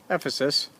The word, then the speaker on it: Ephesus: the theater in Ephesus Ephesus I should say pronouncing it relatively correctly absolutely huge is thought